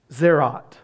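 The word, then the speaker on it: tzaraat: The Hebrew word for leprosy is, I'm going to spell it for you, T-Z-A-R-A-A-T. T-Z-A-R-A-A-T. Zerot.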